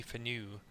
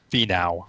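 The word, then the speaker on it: Finau: Rose or a Tony for new and and so how you say his name for new fee now fee now if he now is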